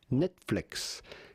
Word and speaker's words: Netflix: Simply Netflix. Netflix. Here are... Два ударения, да вы охренели.